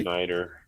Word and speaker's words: Schneider: because look, I think this one actor, John Schneider, am I saying it right? Schneider, yes.